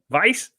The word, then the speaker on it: Weiss: weiss coming out w-i-e-s-s how do you say that it's a german word no vice lice i hope that's